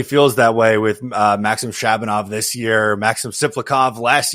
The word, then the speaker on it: Shabanov: And I Speedy, you're better with Shabanov. Shabanov who I'm I'm bad with. You know, I always pronounce his name like Shamov or Shabnoff or whatever the hell.